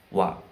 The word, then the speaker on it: は: Namun ee untuk pembacaannya sendiri adalah wa kayak hiragana wa ya. Jadi ee teman-teman harus paham bahwa ee cara menulisnya adalah dengan hiragana h tapi cara membacanya adalah dengan hiragana wa.